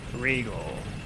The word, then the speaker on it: Regole: So the pronunciation of my name is entirely just like my own interpretation. Regal I've heard all sorts of things.